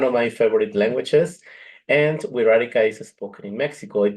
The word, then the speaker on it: Wixárika: language is also called WEA now this is pronounced like an R WEA yes WEA and well